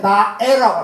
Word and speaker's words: 나의: 꼭 선생님, 나애라고 이렇게. 나애 살던 고향은 이렇게. 선생님, 이게 나의인데 왜 나애라고 읽어요? 야, 임마! 일본 사람들이 그런데, 의는 애로 읽어도 돼. 그 의는, 노래에서는 의는 보다 애로 읽으면 돼.